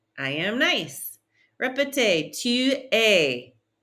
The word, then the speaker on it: es: Répétez, tu es. Don't pronounce that S. Tu es.